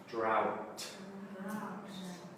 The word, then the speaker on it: drought: Drought. Good. So get that T on the end.